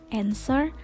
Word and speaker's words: answer: atau tidak diucapkan dan pada kata ansor ini huruf w itu diabaikan sehingga pengucapan yang tepat adalah encer bukan answer contoh huruf lainnya itu ada